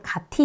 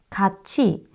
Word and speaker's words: 같이: 해도지 이렇게 바뀌는 거거든요 같이 갑시다 마찬가지예요 가티 이렇게 하지 않죠 근데 우리는가 가티 가치 잠깐만요 써 볼게요 가치를 가치라고 발음하지만 우리가 이렇게 표기하지